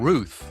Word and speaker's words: Routh: The second one was Ryan Routh. It is pronounced like tooth.